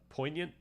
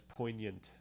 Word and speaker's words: poignant: I don't think you pronounce the G in poant. Okay, thank you. Uh poignant. Uh po. So it's like almost like poant die peons. Oh yes. Poignant.